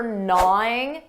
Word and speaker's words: gnawing: Notice that pronunciation for gnawing, that G is silent. Gnawing, gnawing.